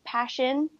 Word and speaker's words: Pashyn: just my first name it's spelled p-a-s-h-y-n so passion and I heard actually